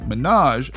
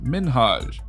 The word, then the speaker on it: Minhaj: say his name right she said his name like minaj instead of minhaj it's so nice to